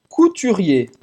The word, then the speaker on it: couturier: Un couturier. Un couturier. Um costureiro, tá? Se for um homem. Geralmente, ER no final de uma palavra se pronuncia E. Couturier.